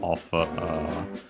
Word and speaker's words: を: Then we have the object particle o, written as wo, and pronounced as such in careful speech and also singing.